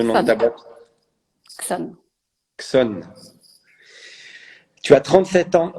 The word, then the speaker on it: Chzon: Mais du coup, comment tu le prononces, le nom de ta Xon. boîte? Xon.